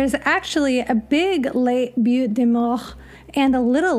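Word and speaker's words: Butte des Morts: and a little like beautiful both in Winnebago County Wisconsin now if you've noticed the way I've been pronouncing it's because it was given by French Colonial settlers most likely in the early 1700s it does mean mound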